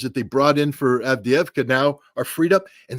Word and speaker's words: Avdiivka: I'm sure I just butchered that. Avdiivka. Yeah. Avdiivka. I've been saying it wrong all along.